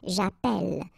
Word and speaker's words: j'appelle: in the previous video, if you have, you know, double L like that, it will affect the pronunciation of the so actually it will open the sound, and that's the reason why you will get the sound eh, okay?